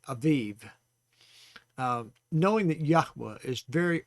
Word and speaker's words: Aviv: And that's spelled A-B-I-B, but pronounced A-V-I-V, Aviv.